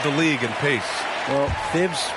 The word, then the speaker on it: Thibodeau: Well, Thibs rhymes with grind, doesn't it, B.A.?